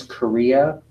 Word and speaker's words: chorea: Huntington's disease used to be called Huntington's chorea. Chorea, spelled with a C-H, not a K.